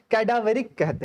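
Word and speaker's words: cadaveric: कैडावरे कहते हैं।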